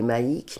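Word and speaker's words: Maïc: Et puis il y en a un qui m'a appelé Maïk, mais à la base ça s'écrit M-A-I-C.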